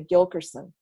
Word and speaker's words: Gil Kherson: but how often do you hear somebody say Gil Kherson and how many people do you think mispronounced it every third person I've gotten Gillespie